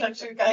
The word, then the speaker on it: shakshuka: dish called shakshuka did I say it right shakshuka yeah and that's really popular too and I